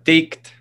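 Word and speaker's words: tikt: How do you say T-E-I-K-T compared to T-I-K-T? Taked. Taked. And then ticked.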